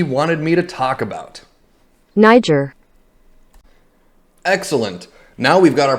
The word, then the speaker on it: Niger: Niger. Excellent. Now we've got our pronunciation, let's click on the link that Atrioc gave me to learn more about this.